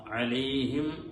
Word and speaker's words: عليهم: അവിടെയും അലൈഹിം വ എന്ന് പറഞ്ഞ് മീമ് പറയുന്ന സമയത്ത് ചുണ്ട് കൂടാതെ വരുമ്പോ പലപ്പോഴും ആ മീം അവിടെ നഷ്ടപ്പെടാറാണ് പതിവ്. അലൈഹിം വ എന്ന് പറഞ്ഞു ഓതുമ്പോ ആ ഒരു അക്ഷരം അവിടെ നഷ്ടപ്പെടുകയാണ്. അലൈഹിം വ അലൈഹിം വ അലൈഹിം എന്ന് പറഞ്ഞ് ചുണ്ടുകൾ പരസ്പരം ഒട്ടിച്ചേർന്നാൽ മാത്രമേ മീം അവിടെ ഉണ്ടാവുകയുള്ളൂ.